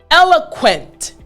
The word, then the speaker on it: eloquent: Eloquent. Yes. Again, eloquent. Excellent. Last time. Eloquent. Excellent job. So now you know the pronunciation and the meaning of the word.